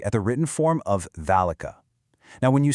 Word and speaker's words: ذلك: Now, when you say it, you loudly pronounce a long A sound right after that first letter. you say "thalika." But, here's the catch. The word is actually written completely without the vertical alif character that normally represents that long A sound. It's almost like Arabic's version of invisible ink. This is just one of those special exceptions you have to commit to memory.